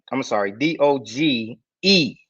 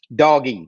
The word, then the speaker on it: Doge: Let's look at Doggy Coin, D-O-G-E, Doggy. They always called it Doggy, and not a new pronunciation. People are saying Doge coin, but really it was called Doggy Coin, right?